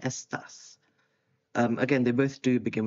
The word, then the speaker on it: estás: So accent on the A there, estás.